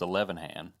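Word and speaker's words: Ilhan: And by the way, it is not pronounced illhan. I learned this today. It's elevan.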